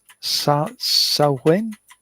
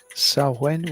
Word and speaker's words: Samhain: And I can never get the pronunciation right. Samhain, if I remember right. Samhain, which is thousands of years old.